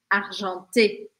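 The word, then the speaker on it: argenté: nesses dois dois casos eu falo o e do final porque ele tem um acento então o som dele é e d argante muito bem super aqui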